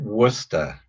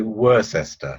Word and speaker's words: Worcester: we pronounce your city we pronounce it Worcester but then the Americans do say they say were sister so it's quite funny listening to it but Worcester it is yes okay